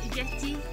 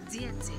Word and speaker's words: дети: What is it in дети is... Children. Yeah, I know, but what is it in Russian? Дети. Дети. Huh? Дети. Дети. Ага, not дети. Дети. Дети. The stress on the first stress.